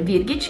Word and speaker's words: Virgitsch: tutti i miei Social Io mi chiamo sempre virghic che si scrive virg SCH e niente Buona visione Rieccomi